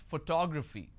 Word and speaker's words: photography: I pronounce this as photography how do I pronounce photography and how many syllables do I have here for two graphy four syllables but in this case I stress on the second syllable that is what word